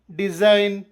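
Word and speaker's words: design: ನಿಯಮ ಪದದ ಆರಂಭದಲ್ಲಿ ಅಥವಾ ಕೊನೆಯಲ್ಲಿ ಎನ್ ಅಕ್ಷರದ ಮುಂಚೆ ಜಿ ಬಂದರೆ ಜಿ ಸೈಲೆಂಟ್ ಆಗಿರುತ್ತದೆ ಸೈನ್ ಡಿಸೈನ್ ಫಾರಿನ್ ಗೊತ್ತಾಯ್ತಾ ಸೈಲೆಂಟ್ ಎಚ್ ನಿಯಮ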